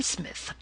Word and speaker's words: Psmith: are you I am Smith said the old Aton reverently there is a preliminary P before the name this however is silent I like the tomb